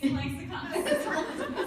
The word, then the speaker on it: ClexaCon: So, hi guys, welcome to ClexaCon. Is that how you say it? I'm saying it. Yes, I've been saying ClexaCon.